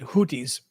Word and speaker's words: Houthi: Although that Arabic speaker from Saudi Arabia clearly was saying what sounds like a th in English.